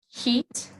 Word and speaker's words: heat: So a lot of native Spanish speakers have a hard time pronouncing the short I sound. They'll pronounce it like E. So they'll say both of these words in the same way. They'll say heat, heat.